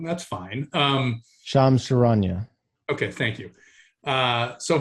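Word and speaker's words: Shams Charania: correct me if you think i'm saying his name wrong that's fine um sham sharanya okay thank you uh so him you're welcome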